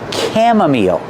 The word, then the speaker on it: chamomile: T sound time and this is pronounced chamomile that's right the CH makes a C Sound chamomile the I makes a long e sound like green beans